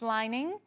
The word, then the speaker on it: Lining: jinlun shining lining okay chase is telling me your last name Larry is lining and since you're from California and chase is from California I guess he knows because I did not say it right the first time yeah Larry congratulations I